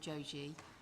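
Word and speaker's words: Jogee: Adam Joji. Apologies, I was pronouncing his surname incorrectly.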